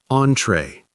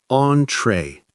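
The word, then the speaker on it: entrée: Entree. Entree. Two syllables. It's a French word.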